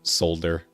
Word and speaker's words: solder: Uh so I I I pronounce the L and with a D. So solder.